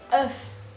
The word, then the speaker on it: œuf: On prononce œuf. Il faut ouvrir plus la bouche.